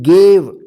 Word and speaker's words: gave: जैसे GAVE, गेव, ठीक है।